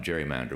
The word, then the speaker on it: gerrymander: with a hard G we pronounced gerrymander with a soft G I don't know when